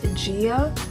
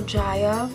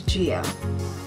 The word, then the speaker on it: Jia: Her name is pronounced Gia. Her name is spelled J-I-A. I named her myself, and people call her Jaya.